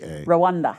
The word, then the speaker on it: Rwanda: Brazil, Nashville, Kentucky, Rwanda, or how do you pronounce that? Rwanda.